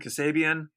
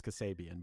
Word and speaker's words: Kasabian: got on three dates because how do you pronounce that band Kasabian Kasabian yeah yeah I always thought it was Kasabian but they dropped off they had something happen